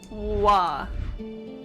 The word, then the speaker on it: Roy: And then Bucha said, small FYI, the Quebecois pronounce Roy as Wa.